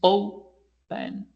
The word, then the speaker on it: open: open the pronunciation is open right the accent in the O is not open right anding consonant vowel consonant yes that's true but because the accent stress is not in the last syllable is not in the